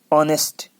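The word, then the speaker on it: honest: अब एच में आता है, ज्यादातर हम जो पढ़ते हैं देखो, NEST, ऑनेस्ट, एच साइलेंट है, ओ से स्टार्ट करना है, ऑनेस्ट, एच साइलेंट है।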